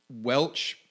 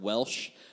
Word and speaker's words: Welch: McDowell County Welch area which is funny to hear people pronounce that online and I've heard Welsh a thousand times also that the transatlantic